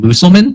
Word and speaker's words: Musselman: the law, which is Senator Calvin Musulman, I believe is how you say his last name.